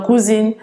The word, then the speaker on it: cousin: Cousin, cousine, pour nous, en général, grosso modo, is cousin, and it's pronounced cousin. This S is pronounced like a Z.